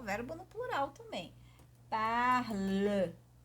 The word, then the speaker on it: parle: Apesar da pronúncia ser idêntica, parle, je parle, tu parles, il parle, nous parlons, vous parlez. Só o parlons e parler, il parle, elle parle, a pronúncia é a mesma, né?